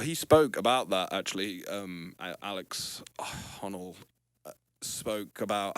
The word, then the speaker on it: Honnold: Alex Honnold, spoke about how it's not What's his fucking name? Because you're like Alex Hollow. Honnold. Honold. Alex Honnold.